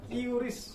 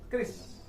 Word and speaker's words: QRIS: KRIS ya, bukan QRIS. Nah, bacanya KRIS.